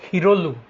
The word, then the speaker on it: শিরলু: ওখানে যে ওরা আলু টালু ইয়ে করে ওটাকে বলে হিরলু, মানে শিরলু, শিরলু মানে অসমীয়া উচ্চারণে হিরলু, এটা ঋগ্বেদ থেকে আসা।